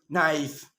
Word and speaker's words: knife: you know this one a k is not pronounced when it comes before and n like knife no knee no not knowledge the later ill